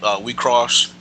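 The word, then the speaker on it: WIXOSS: So yeah, I mean, like, yeah, it is spelled in all caps, but the X, is cross.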